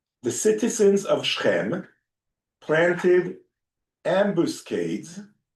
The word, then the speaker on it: ambuscade: The citizens of Shechem planted ambuscades, like ambushes. I think it ambush up. I don't know the pronunciation.